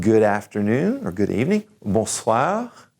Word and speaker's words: bonsoir: I want you to say bonjour, bonjour, and good afternoon or good evening, bonsoir, bonsoir, and good night, good evening, bonne nuit, bonne nuit.